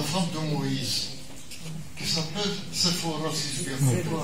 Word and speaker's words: Séphora: de Moïse, qui s'appelle Séphora, si je bien compris. Séphora. Séphora Ou Séphora. Plutôt Séphora. Parce que parfois un nom est écrit par Z et ça se prononce S.